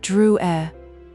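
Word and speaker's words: Drouet: Druer. That's me, he said, putting the card in her hand and touching his name. It's pronounced Drew E. Our family was French on my father's side.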